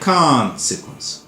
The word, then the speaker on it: consequence: فعشان تبقى عارف إن هي consequence.